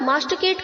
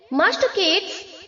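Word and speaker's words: masticate: केट मतलब चबाना clear मास्ट केट्स मास्टिकेटिंग ध्यान रहे हमें इसे मास्टिकेट नहीं प्रोनाउंस करना है मास्ट केट टी के आगे जो आई है उसे हमें प्रोनाउंस नहीं करना है नो मास्टिकेट मास्ट केट ओके नेक्स्ट है मांच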